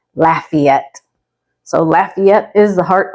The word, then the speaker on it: Lafayette: what do you think might seem straightforward and easy to pronounce as lafette but it is actually Lafayette so Lafayette is the